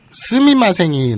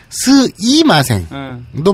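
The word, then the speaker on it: すみません: 근데 어쨌든 스이마생도 많이 씁니다. 그러니까 굳이 발음을 스미마생으로 할 필요도 없고 도쿄 사투리라면 스이마생. 네, 그러니까 그냥 스이마생, 스이마생, 스이마생으로 발음해도 충분히 알아들어요.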